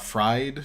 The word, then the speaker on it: FRD: rocky performances popo and fried which is apparently how you pan out to frd according to Dibble dork